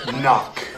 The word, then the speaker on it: knock: and spell the word knock spell the word knock n o c k knock no there's a k you don't see how just because you can't hear the K doesn't mean it's not there spell it with a